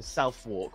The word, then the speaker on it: Southwark: Do we have Southwark, which is written Southwark, but it's pronounced Southwark?